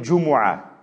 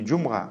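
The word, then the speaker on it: جمعة: Суратуль Джумуа. Сурат Аль-Джумуа. Так ведь не Джумга. У нас Джумга. Джумуа.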